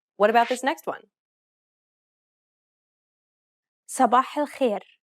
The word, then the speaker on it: صباح الخير: صباح الخير. Did you pronounce these emphatic consonants correctly? Remember, to produce a dark consonant, build up pressure at the point of contact and constrict your throat.